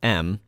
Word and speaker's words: em: the em tool pronounced m is a command line